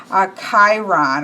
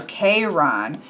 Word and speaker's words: Chiron: And I have to say that I am, so here we have Chiron or Chiron. I was really jumped on, however I think I probably said Chiron, who knows, but I was really jumped on that it was a hard K.